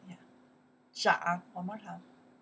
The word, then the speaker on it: 长: yeah to pronounce right in that case we pronounce the 长 yeah 长 one more time 长 in English to grow